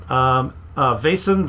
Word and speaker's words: Vaesen: Vaesen.